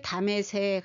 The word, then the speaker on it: 다메섹: 근데 다메섹 하면 히브리식 발음입니다. 디마슈크 아람어 발음이고요. 다마스커스 영어입니다. 그리고 다마스쿠스는 라틴어입니다.